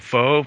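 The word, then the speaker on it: phở: beef it's spelled pH it's called faux but we call it Fox because we read English but you pronounce it f and that's unbelievable it's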